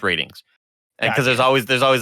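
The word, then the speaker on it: RTINGS: our teens are things okay it's spelled it's pronounced ratings because there's always there's always like a duty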